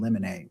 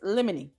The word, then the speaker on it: limine: Limine. Limine. Limine. Little asterisk over it. It's Latin. Motion in limine. I said limine. Limine. I'm going to say the judge is saying it right, so we'll say limine.